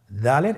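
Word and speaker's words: دال: উচ্চারণ করার সময় অবশ্যই 3 আলিফ টেনে পড়তে হবে।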